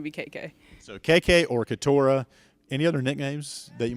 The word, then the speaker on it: Keturah: KK stands for Keturah.